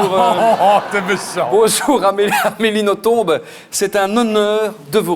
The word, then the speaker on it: Nothomb: Cela se prononce Nothomb, pas Nothomb.